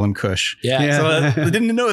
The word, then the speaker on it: Kush: and we call him Kush. Yeah. So we didn't know that. Now he's he's happy. Happy. Happy. It's not K-U-S-H. I think it's K-U, it's phonetically, K, like O-O-S-H. Yeah, phonetically the same, but yeah, Happy Mountain.